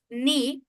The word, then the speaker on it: knee: Angit the very first word is Uh kind of uh no the very first word is knee and the second word is king.